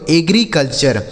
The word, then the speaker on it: agriculture: आगे AGRICULTURE, तो AGRI यह लिखा गया आपका एग्री, AGRI एग्री, CUL से हो गया कल, और TURE का उच्चारण हो गया चर, यह लिखा गया दोस्तों एग्रीकल्चर।